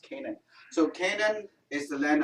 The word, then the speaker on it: Canaan: pronounce it in canada it's become an English word and it's pronounced Canaan so Kayden is the